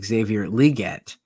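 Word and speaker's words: Xavier Legette: uh PSA for the the name of the week is Xavier liette um that is the pronunciation um and if you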